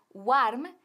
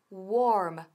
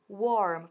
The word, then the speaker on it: warm: Ahora, cuidado con la pronunciación de warm, que no es warm, sino warm. Warm, con la cara bien larga, warm.